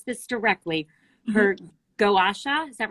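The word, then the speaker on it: gua sha: it i want to pronounce this directly her gowasha is that right washa washa thank you i'm terrible pronunciation for more than 50 years what does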